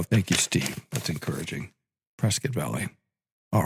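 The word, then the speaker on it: Prescott Valley: Prescuit, you have to say it correctly. So, thank you, Steve. That's encouraging. Prescuit Valley.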